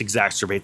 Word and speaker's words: exacerbate: market, and it just exacerbates the problem. Does that answer your question? Yeah, the word exasperate. Yes. Exacerbate. Exacerbate. That's how you say it.